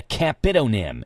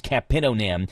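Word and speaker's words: capitonym: So, who knows if I'm saying it right or not, but a capidonm is a capidonm sounds like some some kind of word.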